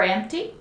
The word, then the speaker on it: empty: Is the drawer empty? Let me see. Yes, the drawer is empty. There's nothing in the drawer. Remember pronunciation for empty? Don't pronounce the P sound. It's M T.